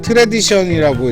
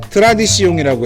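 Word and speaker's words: Tradition: 제가 이거 잠시 헷갈렸던 게 트레디션이라고 읽어야 될지 트라디시옹이라고 읽어야 될지 지금 헷갈려가지고. 근데 앞에 샤를 클레먼트 트레디션 브리 이렇게 읽었으면 상관이 없는데 클레먼트를 이미 불어식으로 클레망이라고 읽은 터라 이걸 트레디션으로 할까 트라디시옹으로 할까 계속 헷갈렸어요. 근데 원래대로 불러주는 게 맞지 않겠어요? 샤를 클레망 트라디시옹 브리라고 읽는 게 맞을 것 같아요.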